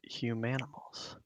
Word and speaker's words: Humanimals: It's like Danimals, but humanimals.